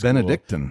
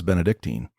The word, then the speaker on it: Benedict: the opportunity to live it's Benedict you chose not to I've never heard it pronounced I was I always thought it was Benedictine tomato tomato Missouri Missouri